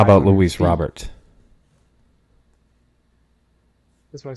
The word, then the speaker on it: Robert: How about Luis Robert? That's what I said. He said Robert. That's how you say it. No, it's Robert.